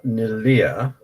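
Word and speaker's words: Neleh: so um pascal wins and then brings uh nelia do you notice i'm saying her name correctly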